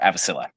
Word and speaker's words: Avecilla: okay it's because you pronounce the V as a B and the L is like you pronounce the two L's was Yeah.